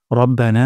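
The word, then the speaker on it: ربنا: পড়ার তাসবিহ শিখবো ইনশাআল্লাহ রব্বানা ওয়ালাকাল হামদ প্রথম শব্দটি হলো রব্বানা এখানে র মোটা করে উচ্চারণ করব না এখানে এক আলিফ পরিমাণ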